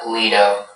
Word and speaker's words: lido: Are there any alternate pronunciations? Just the one, Lido.